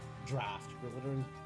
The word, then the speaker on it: draught: Glittering Draught, I don't care about. Draft. Remember how this word is pronounced.